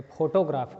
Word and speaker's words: photograph: पहला पोएम है अ फोटोग्राफ। Pronunciation ध्यान देना, लोग आमतौर पे फोटोग्राफ कहते हैं जबकि वहाँ स्ट्रेस नहीं है, अ फोटोग्राफ इस पे स्ट्रेस है।